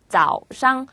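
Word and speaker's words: 早上: 너희들이라 뜻이었고 지에지에 지에지에 마지막 짜우 샹 아침이란 뜻이었죠 짜우 샹 이렇게 발음하시면 됩니다 중국어 문법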